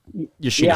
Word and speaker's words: Yoshino: Yoshino.